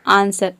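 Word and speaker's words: answer: आंसर में आप देख रहे हैं कि एस और डब्ल्यू एक साथ आ रहा है, यहाँ पे केवल हम ए एन एस ई आर को प्रोनाउंस कर रहे हैं, डब्ल्यू को प्रोनाउंस नहीं कर रहे हैं, तभी इसका प्रोनाउंसिएशन होता है आंसर।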